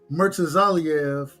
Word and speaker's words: Murtazaliev: Murtazaliev.